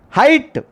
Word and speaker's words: height: Height, which the two letters are silent.